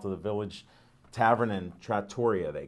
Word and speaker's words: Trattoria: Come out to the Village Tavern and Trattoria, they call it. So we'll be Trattoria? there. No, it's Trattoria is the proper pronunciation, I found out.